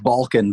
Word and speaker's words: Balkun: where am I saying is it balcony Balkan them I don't know miss your name of it is Balkan but man it gets pretty it gets pronounced so many different ways alright go to Balkan